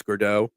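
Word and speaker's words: Gaudreau: I believe it's Gurdeau.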